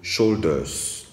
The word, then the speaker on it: shoulders: bien prononcer les mots on doit se sentir le S à la fin lorsque le mot est haut pluriel ok veut chaudeuse ensuite